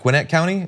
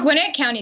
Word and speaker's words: Gwinnett County: So you mentioned on your campaign website that Gwinnett County, is that how you pronounce it? Gwinnett County.